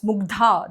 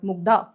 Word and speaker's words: Mugdha: It's Mugdha, not Mugdha.